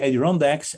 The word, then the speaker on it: Adirondacks: And first he went to the Adirondacks. That's how you pronounce it? Sure. The mountains. Sure. Yeah. So he first went to the Adirondacks, and because he loved hiking, and he hiked